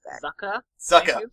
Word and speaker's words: Zuko: Zako, or whatever his name is. It's actually pronounced Zucka.